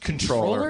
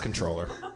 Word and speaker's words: comptroller: character in it comptroller did you know it's pronounced controller it's pronounced controller because we actually have